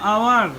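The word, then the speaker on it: hour: আওয়ার, আমরা কিন্তু হাওয়ার উচ্চারণ করবো না, ঠিক আছে? আওয়ার, এইচের উচ্চারণ ওজ্জা থাকবে।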